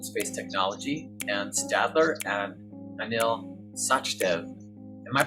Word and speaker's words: Anil Sachdev: beginning of open space technology and Stadler and Anil sachdev am I pronouncing that correctly yes you are yes well